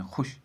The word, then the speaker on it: خوش: لیکن اس میں یہ خوش ہے، کھائی کے اوپر پیش ہے اور سیدھے شین، واو جو ہے یہ سائلنٹ ہے، یہ ہمیں نہیں پڑھنا ہے، تو خوش ہے یہ لفظ اصل میں، خوش۔ اب چوتھا واو جو